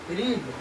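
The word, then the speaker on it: read: पहला है रीड, second हो जाएगा रेड। रीड रेड, यहाँ पर रीड नहीं होगा, यहाँ पर रेड होगा।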